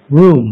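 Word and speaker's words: Rum: something to that correct you can you can pronounce it as r rwm room the pronunciation room yeah okay and english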